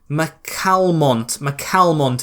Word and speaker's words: McCalmont: As McCalmont is how it's said.